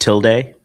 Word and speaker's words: tilde: Big Tilda guy. Tilda? Swinton? You're so stupid. It's pronounced Tilde, but I know what you were getting at.